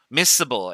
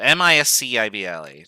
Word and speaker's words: miscible: Miscible. M-I-S-C-I-B-L-E. Not miso as in miso soup. So, miscible. I don't know if you actually pronounce the C in miscible. I never have.